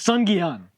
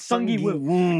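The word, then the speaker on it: Seong Gi-hun: It's Sun Gi-un. It's Sun Gi-un. It's not Sung Gi-woo. If it's H-U-N, you don't say it like woo.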